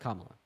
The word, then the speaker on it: Kamala: So her name is pronounced Kamala.